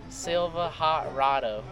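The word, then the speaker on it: Silvahotrodo: it's Silva Hot Rado. Spell that.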